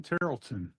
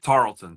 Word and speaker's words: Tarleton: Welcome everyone to meet follower of one and meet Tarlton. I'm saying that right? Correct. Tarlton. Tarlton. But no worries. Only people that live near Tarlton State seem to pronounce my name right.